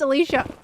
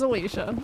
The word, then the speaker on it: Alicia: Miracle, I know how to pronounce Alicia. All right. At least in my own circle where I live, that is how it was pronounced. It was Alicia.